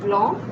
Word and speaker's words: blanc: Then we have blanc, that is white, B-L-A-C-N-C, and rouge, R-O-U-G-E, rouge, red.